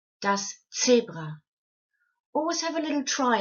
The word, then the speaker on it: Zebra: You would pronounce it as z, like in the name Betsy, z, in the name Betsy. Now let's have a look at a couple of other words. Das Zebra.